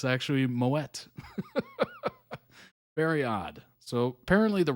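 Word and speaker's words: Moët: The T is silent, except in Moet. Isn't that weird? The champagne. For the longest time, I said Moet, and I'm like, oh, it's French. The T's probably silent. But no, it's actually Moet.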